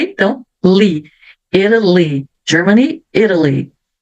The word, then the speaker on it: Italy: E aqui eu tenho a letra T entre duas vogais. Então, vai ficar o som de R. Italy. Então, o T ficou um somzinho de R porque eu tenho uma vogal antes e outra depois.